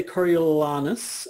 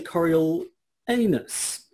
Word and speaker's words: Coriolanus: Well, there are schools of thought as to the pronunciation. Some will say Coriolanus and some will say Coriolanus.